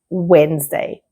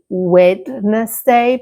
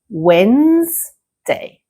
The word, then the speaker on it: Wednesday: It's the first one we looked at before, and the pronunciation is Wednesday. Many students say Wednesday because they want to pronounce all the letters that are present in this word. But it is much easier. You need to simply say Wednesday.